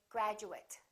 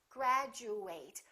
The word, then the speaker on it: graduate: say it once again it depends on what kind of word it is if it's a verb we fully pronounce ate and it kind of sounds like the number eight graduate i would like to